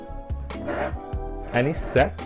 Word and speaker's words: anisette: So it's lime juice, gin, anisette, am I saying it right?